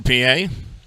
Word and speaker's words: Pie: 250 batting average, 6 home runs and 18 RBIs for P.A. The name P.A. is spelled P-I-E, like pie.